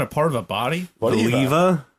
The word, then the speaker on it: Voliva: vola I don't trust that I'm Volver vol Volva isn't that a part of a body voliva voliva voliva you just skipped like how do you